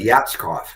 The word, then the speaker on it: Yatskov: You You said it right. Yatskov. Very phonetic.